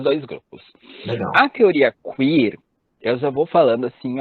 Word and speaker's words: queer: Essa é a pronúncia, Mário? Queer, né?